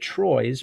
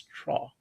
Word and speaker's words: Troyes: told, by the way, by a French speaker that it's pronounced Troyes. Um, I guess you'd read it Troyes, but it's Troyes.